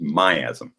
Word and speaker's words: miasm: So I always see this word miasm in homeopathy. Correct pronunciation is miasm.